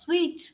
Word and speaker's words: suite: yes it is sweet can you believe this is pronounced as sweet sweet yes presidential suite